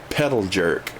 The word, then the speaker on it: Pedal Jerk: He's pedal jerk. How it's spelled, pedal and jerk. Pedal jerk, like a soda jerk.